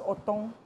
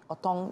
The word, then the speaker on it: otong: this one more time when this is please pronounce this that is otong otong yes and you said it is dried burnt